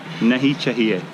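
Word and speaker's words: नहीं चाहिए: say this in Hindi it's it's two words nahi chahiye and it's pronounced like this na e cha ta na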